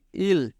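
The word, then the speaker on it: 일: ইল ইল কীভাবে হলো? যেমন ইয়ংয়ের পরে ই, আর ইয়ংটা যেহেতু উচ্চারিত হয় না সেহেতু ই, আর নিচে রিউল, আর রিউল যেহেতু নিচে আছে সেহেতু আমরা সেটার শেষ অক্ষরকে উচ্চারণ করব।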